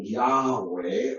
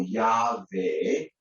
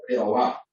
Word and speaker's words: Yahweh: Y por eso entonces creo que la pronunciación Yahweh o Yahvé es más acertada que la forma que tenemos en Reina Valera.